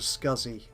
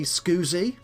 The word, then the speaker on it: SCSI: do we want to go to scuzzy that's how i pronounce it other people your mileage may differ as they say some people i think say scusi or just pronounce or just say as scsi yeah you're all wrong scuzzy that that's how it's pronounced properly but by me yeah please for myself